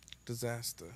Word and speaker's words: Dizazta: Okay, so it is not disaster in its normal traditional sense. Right. It's disaster.